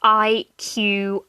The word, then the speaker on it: iQIYI: And then there's iQIYI, and that's spelled IQIYI, but it's read iQIYI, which has actually also started to carry some Korean dramas on there.